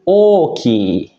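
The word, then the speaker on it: 大きい: Oke, nah untuk kunyominya itu ada satu, yaitu oki. I-nya panjang ya, minasang. Oki.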